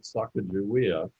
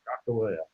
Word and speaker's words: Sakakawea: And most people pronounce that Sacagawea. Right. But when I was out in Sawtooth Botanic Garden lecturing, they corrected me. They said her name was Sakakawea.